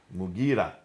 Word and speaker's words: Mughira: Basra, Amir ibn Abdul Quyas, sorry for the pronunciation, Qais. In Syria, Al-Muqarid ibn Shuba. Mughira ibn Shuba.